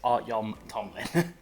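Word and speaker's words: Artyom Topilin: Starks and artyon Tomlin I have to always take a second to pronounce that name but it's art Yom Tomlin so this trade paper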